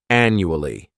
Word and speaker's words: annually: first adverb is annually this word has four syllables and the stress is on that first syllable the second syllable it's like you're just saying that letter U and the third syllable has that schah Anu Ali annually this adverb means that